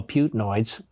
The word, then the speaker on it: Putinoids: But that aside, the propagandists for Putin, who I call Putinoids, because it rhymes with hemorrhoids, these bleeding Putinoids, fact